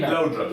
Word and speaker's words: Laudrup: How do you pronounce his name? Laudrup. Laudrup.